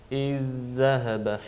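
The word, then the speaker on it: إِذْ ذَهَبَ: Nasıl telaffuz edeceğiz? İz-zehebe.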